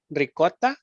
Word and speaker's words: ricotta: pronunciation is ricotta.